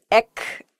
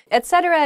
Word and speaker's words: etcetera: etc oh yeah okay I've heerd I hear this ech ech thing a lot etcetera is just used at